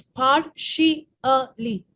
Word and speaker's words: partially: broken down the word try to read it the way i've broken it down now it's par shi er li partially yes and the